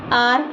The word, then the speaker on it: hour: कहीं कहीं पर लेटर H के बाद O हो तो H हमेशा साइलेंट होता है, जैसे HOUR आर, HONEST ऑनेस्ट और HONOUR ऑनर।